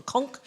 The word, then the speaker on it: conch: SO, THIS IS A QUEEN CONCH. ACTUALLY, in the United States, it's called a conch, but the British say a conch.